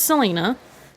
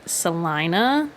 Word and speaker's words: Selena: Um, but people would pronounce it Salina because or Yeah, because there's a city or whatever in Kansas that is that.